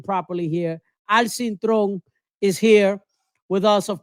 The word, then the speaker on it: Cintron: I'm talking about Al Cintron, but we're going to pronounce his name properly here. Al Cintron is here with us, of course.